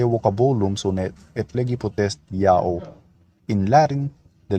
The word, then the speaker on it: Ya'oh: used letter J, but that letter J is Y sound in Latin, and the H is silent if not the first letter of a word.